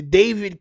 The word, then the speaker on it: D4VD: First of all, the David case D4VD. I think I spelled his name wrong in the damn title because it's so foolish, champ.